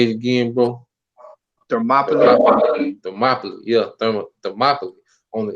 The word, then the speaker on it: Thermopylae: So I'm gonna get the war of Therma Palai, if I'm saying it right. But You say it's called Thermopylae.